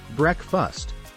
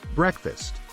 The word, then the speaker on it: breakfast: say it is sponge moving on to breakfast many people say breakfast but the correct pronunciation is breakfast the fourth word is